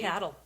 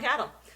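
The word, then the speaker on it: Cathal: me here cathl cal It's c a t h a l Cel c Cel I feel like it would be cattle cattle we're going to call him cattle uh he's the king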